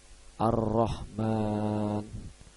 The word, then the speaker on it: ar-Rahman: pajak yatch saya pertama yaitu contoh dari altavia ar-rahman ar-rahman di tv-nya itu ada alif lam bertemu